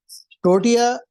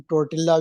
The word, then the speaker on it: tortilla: टोर्टिया वहां पर जो है, जैसे हम टोर्टिल्ला भी बोलते हैं क्योंकि उसकी स्पेलिंग टोर्टिला है।